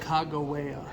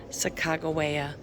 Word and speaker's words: Sacagawea: And then there's a sulfur spring trail where how do you pronounce her name? Devin said Sacagawea. Sacagawea.